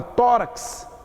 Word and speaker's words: tórax: o número de letras no caso da palavra tórax é o contrário eu tenho x que vale por dos fonemas então tórax tem cinco esses problemas